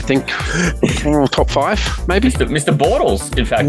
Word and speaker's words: Bortles: this week I think top five maybe Mr Bortles in fact it's just it's spelled puid but it's pronounced Bortles fantasy it was a really really good double